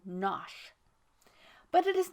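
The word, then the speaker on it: Knotacent: seat of lord nakasent pronounced as if written nosh but it is not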